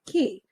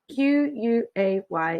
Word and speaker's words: Quay: partnered with kylie jenner whose pronunciation is actually key q-u-a-y if you live on